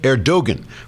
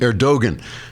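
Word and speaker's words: Erdoğan: gradually eroded by President air Dogen pronounced air21 because the G is silent as in whiz how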